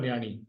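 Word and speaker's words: نياڻي: कहा जाता तो नियानी नियानी नून पर जेर ये और अलिफ जबर के प्रोनंसिएशन के साथ मिले हुए ण यन है याने जो सेकंड लास्ट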